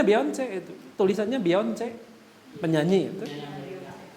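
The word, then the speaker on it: Beyoncé: Saya baru tahu namanya Beyonce, itu memang dibacanya Beyonce itu. Tulisannya Beyonce, penyanyi itu. Mereka kirain saya dulu namanya Beyonce itu. Ternyata Beyonce namanya.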